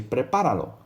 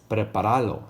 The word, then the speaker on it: prepáralo: So you say prepáralo con zanahorias. Notice you got to put that accent over the A. Because if you didn't have it written there, you would say it like this. Preparalo.